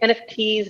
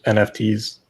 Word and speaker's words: NFTs: Frozen um and pick nfts nifties or how you pronounce it uh I I definitely lean towards nfts yeah sorry about the